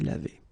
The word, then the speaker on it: lavée: be the feminine form, then you should add this e at the end, but then phonetically it doesn't exist, you don't pronounce it, so it would be exactly the same form phonetically, je me suis lavé. Okay, same thing here, tu